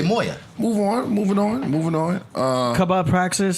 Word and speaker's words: mw: You corrected I pronounced it wrong. It's Moya.